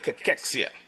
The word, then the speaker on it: cachexia: So, sarcopenia and cachexia, all right? That's the pronunciation, all right?